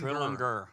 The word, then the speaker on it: Trillinger: Say it, Eddie. Trillinger. Trillinger. That's how you say his name.